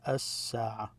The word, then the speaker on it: الساعة: If you have this definite article, you just stress the S, الساعة.